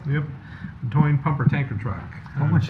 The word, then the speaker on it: Toyne: Item L, considering a resolution approving payment, is that pronounced Toyne? Is that right? Yep. Yep. Toyne pumper tanker truck.